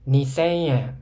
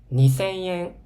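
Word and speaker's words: 二千円: イントネーション、2000 円、3000 円じゃなくて、2000 円、3000 円、4000 円ってお客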